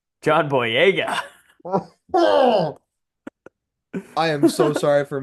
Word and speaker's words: Boyega: Boyega. John Boyega. I am so sorry for mispronouncing that name.